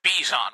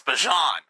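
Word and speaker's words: Bijan: You don't say his name as Bjan Robinson. It's Bjon.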